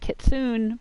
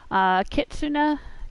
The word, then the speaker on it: kitsune: I think that a lot of Americans pronounce it kitsune, but I looked online and that's not supposed to be the correct pronunciation. Kitsune, or kitsune, is a fox.